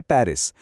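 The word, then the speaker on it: Paris: जरा यहां देखिए, लिखा है पेरिस, लेकिन बोला क्या जाता है? पारी। आखिर का एस गायब।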